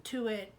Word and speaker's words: Tuite: at Celery Queen Jean Tuit, Jean2it, or Jean, my whole name spelled out, Jean Tuit, where the E is silent, Tuite, whatever.